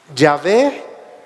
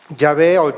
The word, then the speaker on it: Yahvé: ve te ha enviado ya veo ya ve cómo es su profesión su pronunciación quizá más correcta se está identificando y